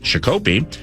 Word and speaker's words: Shakopee: That's your Fan Traveler's Forecast, otherwise known as the traffic report that takes place from the hinterlands, and Shakopee is pronounced Shakopee, but this is actually going to be incredibly accurate.